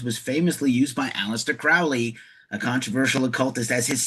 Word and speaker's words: Crowley: Crowley, which is incredible. Although, you know, it's actually pronounced Crowley and so, but I always thought that that